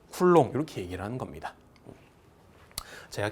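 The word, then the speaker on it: coulomb: 학자 이름을 따는게 보통이거든요 그래서 얘는 쿨롱이라고 읽습니다 쿨롱 요거 c라고 읽으면 된다 안 된다 안 된다 얘는 쿨롱이라고 있습니다 따라서 전하 Q 쿨롱 이렇게 얘기를 하는 겁니다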